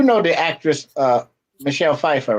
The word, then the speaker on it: Pfeiffer: the actress uh michelle pfeiffer right yeah oh yeah you know her name her name starts with the p and the f right right so you know you know the p is silent like the p in